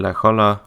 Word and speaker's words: La Jolla: Salk died at the ripe old age of 80 on June 23, 1995 in La Jolla, California.